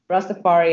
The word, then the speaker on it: Rastafari: please please correct me where I'm wrong and pronouncing it rust affiant is that how you say it nice to fire you Rastafari innit okay what what exactly what kind of